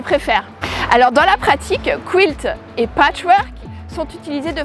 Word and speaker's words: quilt: et non initiés alors déjà à le prononcer culte et du coup forcément imaginé un bel écossais en tenue traditionnelle qui va venir se pointer à la prochaine journée de patchs et se dit que là vraiment le patchwork ça peut être à loisir vraiment attirant vraiment sympa ah mais non le quilt prononcé quilt est un mot anglais